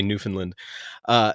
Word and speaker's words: Newfoundland: you see how like I'm quick to pronounce the land part after having visited you and learned I'm not allowed to say Newfoundland.